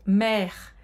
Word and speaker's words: maire: Então presta atenção que o som do AI em francês tem som de E, tá aberto. Maire.